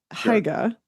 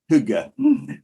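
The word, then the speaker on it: hygge: to move on to haga which again I'm sure I'm getting that wrong tell me how to say it Hugga Hugga yeah so I think Huga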